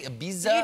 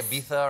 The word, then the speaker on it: Ibiza: Did I pronounce that correctly? Ibiza? You did, you did, yeah, you don't say Ibiza or anything like that?